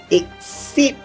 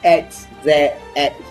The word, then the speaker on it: XYZ: Ini adalah kad monster yang kita panggil sebagai exit monster. Walaupun ejaannya XYZ, tetapi sebutannya bukan XYZ. Jadi kita tak panggil XYZ monster, kita panggil dia exit monster.